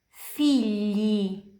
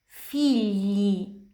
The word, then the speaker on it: figli: Figli, figli, anak-anak.